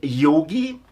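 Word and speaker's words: Jogi: So far, to myself, I am yogi, pronounced as a Y and written with a J, and fully named Dr.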